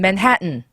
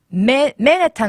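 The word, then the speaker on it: Manhattan: 그럼 삼음절이나 영어로는 맨하튼. 그죠? 그럼 보세요. 맨하튼일 때 네. 강세가 맨해탄 아니고 맨하튼.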